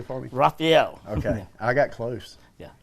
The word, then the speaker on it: Raphael: And Raphael stems from Germany. If you say it correctly, you got to spit. Raphael. Okay. So can you say it correctly for me? Raphael.